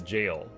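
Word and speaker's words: Gaol: Gowl is pronounced as jail, but it's not spelled that way.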